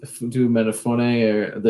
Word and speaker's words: Ifeatu Melifonwu: Ifeatu Melifonwu yes, Ifeatu Melifonwu.